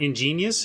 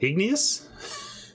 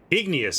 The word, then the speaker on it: igneous: Is it not ingenious? Is it igneous? Certainly in my range. Here it is. Igneous. Sorry, I will say it correctly now.